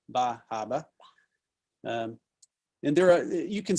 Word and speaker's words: Bar Harbor: is the busy tourist town of bar harbor pronounced ba haba and there are you can see one of